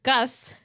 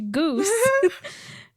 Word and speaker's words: Gus: If you need any more convincing, look up pictures of the character Gus. No, wait. Sorry, pronounced Goose. I like, while looking at it, I mispronounced it.